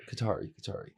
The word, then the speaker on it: Kothari: Kothari.